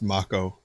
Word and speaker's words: mako: with mako energy soldier trademark it's canon it's pronounced mako which i'm sorry sounds a lot less cool